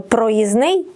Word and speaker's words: проїзний: спрощення в групах приголосних тому правильно проїзний і тижня без букви д у власне українських словах спрощення відбувається завжди крім винятків і часто це явище маємо і на письмі і у вимові тому прикметник проїздний загубив і звук д і літеру д від іменника проїзд та теж сталося зі словом тиждень тижня Тобто у буквосполуці ждн теж випав середній д є ще й інші